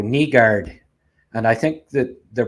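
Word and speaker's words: Nygård: it uh Mikhail bransek nigard I know like it's kneelander it's not nylander so the Y I think is pronounced like e so knee guard and I think that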